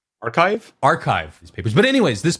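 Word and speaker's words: arXiv: I'm going to say it wrong. ArcSiv, but it's not ArcSiv. What is? Archive These papers.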